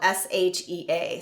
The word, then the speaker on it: shea: This is one of my all-time favorites called African Shea butter. It's spelled S-H-E-A. So it's shea or shea butter, but it's from the carite tree.